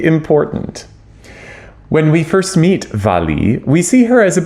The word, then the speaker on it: Wally: The title of the opera looks like it should be pronounced Wally, but actually Valli is the nickname of the title character, Walburga, obviously.